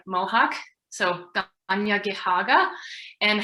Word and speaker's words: Tiohtià:ke: So, and also I think it's really important for us Montrealers, those of us in Tiohtià:ke, to practice those pronunciations of how to say Mohawk, so Tiohtià:ke, and how to say Montreal or Tiohtià:ke, and to have those at the ready.